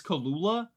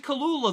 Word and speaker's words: Kelela: She has a video of her saying it and it's Kalula? How is it Kalula? There's an E. Unless I'm saying it wrong. Kalula?